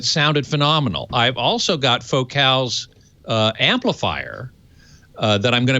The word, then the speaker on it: Focal: It's from Focal. It's pronounced Focal. You would say it in English, focal, but they're French, so they can't say it the same.